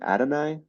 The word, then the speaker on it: Adonai: a how do you say his first name Adonai yeah Adon Mitchell ad Mitchell I think he's